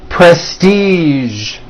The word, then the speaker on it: prestige: Now, there are only a few words that have the voiced zh sound at the end. A few of these words are the color beige, the word massage, and the word prestige.